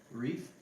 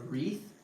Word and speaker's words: wreath: the other one Reef are you saying it Reef with a r at the end f um no why what is it it's th a wreath it's not like a coral based you know nothing like that nothing no this is a wreath like underneath not the surf brand